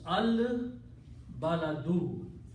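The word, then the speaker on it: البَلَدُ: not a Shamsi letter, it's a Qamari letter, and it does not have any effect on lam, the sound of lam. So the sound of lam stays intact. So you will pronounce al baladu. In the other case, ta killed the sound of lam. So that was at-teen. We did not pronounce al there. But here it has to be pronounced al-baladu. Al-baladu means the city.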